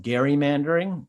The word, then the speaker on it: gerrymandering: politically benefit him uh if you want to get technical it can be called Gary mandering it's kind of like the GIF GIF debate of uh redistricting is how you pronounce that but uh either way